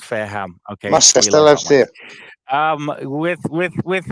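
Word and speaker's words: Fareham: actually closer to you than you think I'm farum so I know you are oh big it's pronounced it's pronounced fairham okay um with with with Mikey's mispronunciation aside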